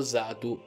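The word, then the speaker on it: Xatu: Piccolo appunto, dico Zatu perché la X non si legge X come in italiano quando si legge un nome inglese. E dato che i nomi dei Pokémon sono tutti quanti dall'inglese, lo leggo appunto come in originale, ovvero Zatu.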